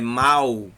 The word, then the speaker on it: mal: O L também tem o som de U. É mal com L. Mal.